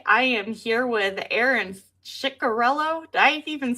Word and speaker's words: Ciccarello: I am here with Aaron Chikorello. Did I even say it right? Wow. I am impressed that your in Josh's stream taught you guys how to say my last name. And yes, it's Chikorello.